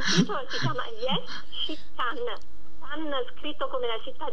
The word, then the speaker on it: Cannes: Proprio come la città la città della Francia can quindi che nella pronuncia può significare Sì lei può In pratica